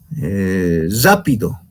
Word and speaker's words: rápido: Por ejemplo, decimos rápido, ¿no? Rápido, pronuncio como si fuese doble R, ¿no?